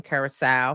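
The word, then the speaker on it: Curaçao: We already know that Ray J crashed out in Curacao. Look at me pronouncing it correctly.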